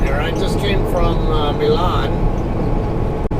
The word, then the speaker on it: Milan: I just came from Milan. I guess some people call it Milan, but that's Milan. Haven't you heard of Milan, Italy? That's how it's pronounced, is Milan, but I guess to each their own.